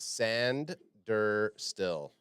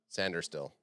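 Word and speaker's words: Sainristil: says and it's pronounced sander still sander still that's insane that that's how that's pronounced there's no D in it yeah and I can't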